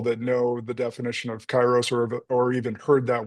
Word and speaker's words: Kairos: And so taking a look at what you're doing with Chyros uh coaching and I want to I want to dive right into that too.